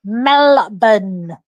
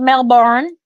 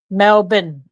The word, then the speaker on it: Melbourne: and that was to melburn here in Australia not Melbourne Melbourne and so if for those in America who pronounce it Melbourne just say Mel and then bin like bin Mel bin Mel bin it's easier